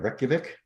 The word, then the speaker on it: Reykjavik: Reykjavik, Iceland.